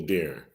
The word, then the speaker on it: Darron: And Darron, right? Am I saying it right? Yeah, Darron.